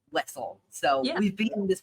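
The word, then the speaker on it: Wesell: Our good friend Devore from A Large View of the Force pronounced it as Wazelle, and we've gotten every single person minus one, I believe, to come on this pod and say Wessel.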